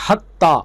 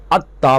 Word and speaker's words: حتی: کے درمیان بھی تھا۔ مثلا قریش لفظ حتی بولتے تو بنی حذیل اور بنی ثقیف اس کا تلفظ حتی کی بجائے عطا کرتے۔ اس میں ہے اور عین کا فرق ہے، یعنی وہ ہے کے ساتھ حتی پڑھتے اور یہ عین کے ساتھ اتا پڑھتے۔ قریش کی لغت میں